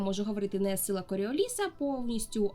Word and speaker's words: Коріоліса: для нашої мови але наголос у прізвище саме на останній склад не коріоліса а коріоліса Сподіваюся що сьогодні коли